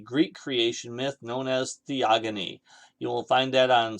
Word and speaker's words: Theogony: written by an ancient greek called hesed it's pronounced theogony which comes from the greek word theos meaning